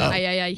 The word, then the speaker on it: AIAIAI: AIAIAI.